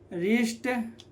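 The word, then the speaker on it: wrist: ठीक है, तो यहाँ पर R के पहले W आ रहा है तो क्या हो जाएगा, तो W साइलेंट, तो क्या हो जाएगा, रॉन्ग, राइट, रैप, रिस्ट, रेपर और रिंकल।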